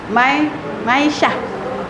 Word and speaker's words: Maisha: Maisha. Oh, Maisha. Terima kasih. Di sini berarti namanya nama Maisha. Maisha. Jadi kayak misah ya. Maisha bacanya.